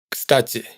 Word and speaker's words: кстати: Todas estas últimas sílabas suenan igual, aunque en кстати hay una i y en el resto hay una ye. Esto hay que tenerlo en cuenta porque a menudo nos ocurre que intentamos ajustar la pronunciación a lo que vemos escrito, y nos esforzamos por pronunciar una i en кстати y una ye en делаете. Pero para un ruso son vocales indistinguibles.